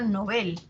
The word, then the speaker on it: Nobel: Ahora, es palabra aguda en sueco, o sea, se pronuncia Nobel.